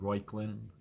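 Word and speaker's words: Reuchlin: the first or I don't know how to pronounce his name roylin re u c h l i n he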